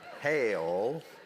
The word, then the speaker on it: hell: If you're Southern, you know that hell has 3 syllables. Hail.